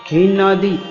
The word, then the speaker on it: हिंदी: लेकिन उच्चारण हिंदी होता है। न का भी उच्चार आता है उसमें, हिंदी, हिंदी होता है।